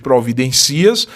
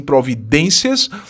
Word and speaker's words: providências: ser acentuada então providências palavra paroxítona terminada em ditongo crescente oe é semivogal eu não pronuncio obviamente providências mas sim providências e o isso semivogal